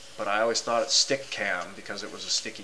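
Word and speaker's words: Stickam: is how it's pronounced like sticky camera like you take it move it around and put it somewhere other people have called it stickum it spelled stickum but I always thought it stick cam because it was a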